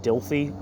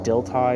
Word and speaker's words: Dilthey: Let's actually see if I can find, because I know that like the philosopher Dilthey, D-I-L, it looks like Dilthy, but it's like Dilthey is how you pronounce it.